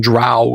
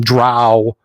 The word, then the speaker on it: drow: Jackson Dro which seeing drow it's Dro That's How Gary pronounced he told me he hated it when people call them drow they're not cows it's dro so I